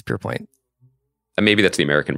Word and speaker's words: Pierpoint: I keep calling it Pierpont. It's Pierpoint.